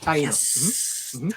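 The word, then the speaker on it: Taíno: His initiation by taino curanderos. Did I say that right? Is it taino or how do you pronounce That's correct. that? That's correct. Taino. Yes.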